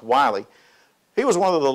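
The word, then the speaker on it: Willie: received by Wiley James spelled like Willy but pronounced Wiley he was one of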